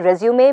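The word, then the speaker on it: résumé: अभी knife, KNIFE, उसमें knife silent है, लेकिन रेज्यूमे में ई, इट्स a French word, so since it's a French word, E pronounce किया जाता है.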